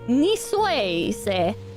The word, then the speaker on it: Niçoise: How do you say the C? Nikos? Please? Two? I hope I didn't mess up the pronunciation of that too badly. Even if I did, he doesn't show it. As an S.